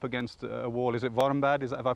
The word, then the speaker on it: Warmbad: Is it Warmbad? Have I pronounced that right?